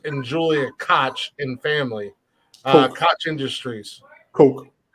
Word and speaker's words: Koch: Coke. Koch Industries. Coke. Is that It's Coke? pronounced Coke. K-O-C. It's pronounced like Coca-Cola Coke. That's how it's pronounced.